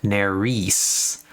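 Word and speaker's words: Nerys: Okay, so Nery is pronounced Narice.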